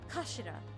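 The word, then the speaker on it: 頭: end of the hilt it's written as head in Japanese but it's pronounced as Kashira I believe Kash so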